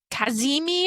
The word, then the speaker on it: kazimi: So it's its best placement and Jupiter is going to be kaz kazimi I guess is how you say it. K a z i m i kazimi which means it'll be at the same degree.